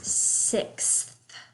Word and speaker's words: sixth: here which animal is sixth so you do have to pronounce the th there so when i'm counting you